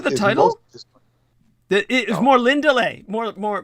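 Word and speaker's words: Morlindale: more lindeley more more more lindale uh is how english would pronounce it but the actual elvish pronunciation is more lindelay for those of you who want to look it up it is spelled m-o-r-l-i-n-d-a-l-e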